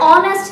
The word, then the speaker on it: honest: with an example and honest lady so here the word honest has its first letter as hedge but the pronunciation starts with that of O that is over